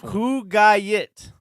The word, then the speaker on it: Kugayit: Kugayit. Yeah. That's how you pronounce it. The spelling is totally off. My last name is very similar. Like, you read it, you're like, oh, no, there's no way it's pronounced like that.